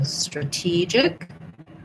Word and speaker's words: strategic: Then when we change to strategic, we have different syllable stress. So strategic is a schwa in the first syllable, and then the T gets stressed, and then we still have a J sound.